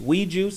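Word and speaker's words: Oui Juice: Weed Juice is spelled O-U-I, right?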